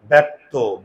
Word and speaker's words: ব্যক্ত: এখানেও দেখো মুখের চোয়াল খুলে যায়, ব্যক্ত, ব্যা, এই জন্য এ দিয়ে লিখি।